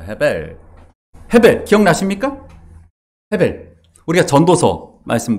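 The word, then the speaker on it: הֶבֶל: 근데 아벨의 히브리어는 헤벨입니다. 헤벨.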